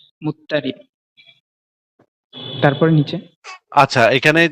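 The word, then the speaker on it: مضطرب: প্রচলিত উচ্চারণ অনুসারে মুজতারাব লেখা হয়েছে, অন্যথায় নিয়ম অনুযায়ী এর সঠিক উচ্চারণ হবে মুত্তারিব।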